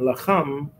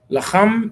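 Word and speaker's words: לחם: You have to make sure you pronounce the cha.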